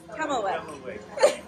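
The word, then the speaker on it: kummelweck: Kummelreck.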